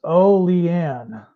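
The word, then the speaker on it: Olean: I was it's SP it's pronounced o lean many towns in Western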